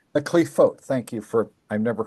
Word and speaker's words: Qliphoth: Okay, so they call them the Qliphoth. The Qliphoth, thank you for, I've never heard it pronounced, right?